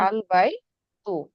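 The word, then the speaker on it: البيت: এখানে আল বাই তু, কিন্তু এখানে হচ্ছে আমার যদি কোনো একটা শব্দই যুক্ত থাকতো, ওয়াও বা হচ্ছে যে কোনো একটা শব্দ যুক্ত থাকতো, তখন কিন্তু ওয়াল বাই তু, এই আলিফের উচ্চারণ আর তখন হতো না।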